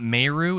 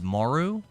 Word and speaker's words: Meru: Not Meru, it's Maru, says Dylan. Am I saying it wrong? I've been saying it Meru the whole time.